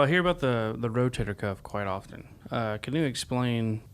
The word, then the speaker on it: rotator cuff: just misunderstand they'll say rotary cup or a rotator cup but it's not a rotator cuff uh it's just like a cuff in your uh the sleeve of